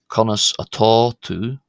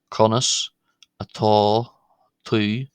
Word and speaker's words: Conas atá tú: One will hear conas atá tú, conas atá tú, which means how are you to one person in Munster. But one will also hear